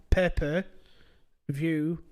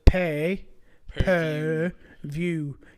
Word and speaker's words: pay-per-view: I'm like, no, it's pay per view. You pay per viewing. Yeah, pay per view. I'm like, no, you're saying it wrong. You're saying papers in the thing that you write on.